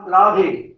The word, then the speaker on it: राधा: कृष्ण, श्री राम, श्री राधाजू, राधा, राधे नहीं है, राधा है।